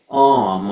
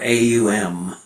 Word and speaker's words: AUM: It's called AUM or AUM. Oh, like the God in THX Home? Yeah, you pronounce it that way, but it's spelled AUM.